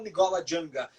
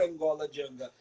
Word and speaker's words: Ngola Janga: A gente acabou traduzindo com o passar do tempo para Angola Janga pela nossa facilidade de pronunciar Angola Janga. Mas o nome mesmo é Nigola com N antes do G.